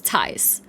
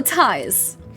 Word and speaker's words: Thijs: Thijs. Thijs. Like Thijs. Thijs. Yeah, you do. Yeah, that's very good. Like with a T, not the Yes. TH sound. Okay, so it's Thijs. Yes, Thijs.